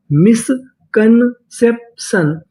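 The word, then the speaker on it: misconception: अगर आपको इंग्लिश में कहीं पर TION लिखा मिले तो हम लोग TION का उच्चारण करते हैं शन। क्या पढ़ते हैं इसे? सन। तो पूरी मीनिंग क्या बनी? मिसकंसेप्शन, मिसकंसेप्शन, मिसकंसेप्शन।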